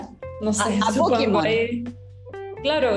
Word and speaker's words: Pokémon: Pokémon, porque la E se pronuncia como I.